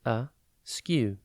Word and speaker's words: askew: one word at a time today's word is a skew it is pronounced a skew and spelled a k e w think ask